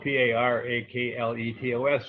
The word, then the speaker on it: parakletos: The Greek word for advocate, which is spelled P-A-R-A-K-L-E-T-O-S, is parakletos, also means, of all things, defense attorney.